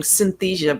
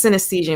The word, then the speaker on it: synesthesia: concept is synesthesia um Francine had a hard time pronouncing it so she kept saying Synthesia but it's the word is synesthesia and what it is